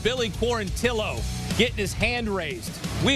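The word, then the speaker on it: Billy Quarantillo: Billy core until OH who made it a point to say my name is pronounced Billy poor until Oh getting his hand raised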